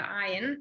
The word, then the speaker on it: ayin: It is a little similar to the ayin. Sorry, I should have said earlier when I was talking about things that sound the same, that the aleph and the ayin sound the same, they're both silent.